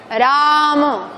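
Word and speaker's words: राम: Y cuidado aquí porque la primera es una vocal larga, pero la segunda es breve. Rama. Rama. Rama. Tiene que notarse articulatoriamente A.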